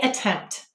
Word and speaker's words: attempt: the problem attempt say attempt how many syllables hmm two do you hear a schwa sound attempt that's right we will